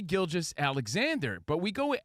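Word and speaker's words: Gilgeous: It's Shea Gilgis Alexander.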